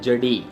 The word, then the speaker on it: Jeudi: तो फ्रेंच में इसको बोला जाता है जडी, JEUDI, जडी फ्रेंच में बोला जाता है।